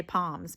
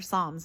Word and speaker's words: Psalms: I was going to say palms, but they're Psalms. It's just spelled with a P.